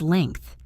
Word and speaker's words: length: The word is length. L-E-N-G-T-H, length. The mistake is to say length by completely swallowing the G sound, or to say